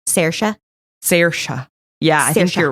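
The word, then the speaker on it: Samhain: as this festival called sa which is not at all um like spelled out like it sounds yeah it's spelled like Sam pain yeah the the Irish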